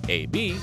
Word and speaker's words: Eh Bee: the father's initials are a B and a B is how the initials are pronounced number one mr.